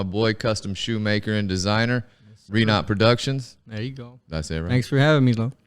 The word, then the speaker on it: Renot: I brought my boy, custom shoemaker and designer, Renot Productions. There you go. Did I say it right? Thanks for having me, Lo. I got it? Yes, sir. Oh, man. Renot Prodx.